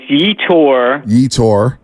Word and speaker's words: Yetur Gross-Matos: Yeah, the pronunciation guide says Yetur. Gross-Matos.